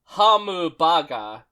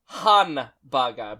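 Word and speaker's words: ハンバーガー: It's not hamubaga, it's hanbaga because that has a better mouth feel, I think.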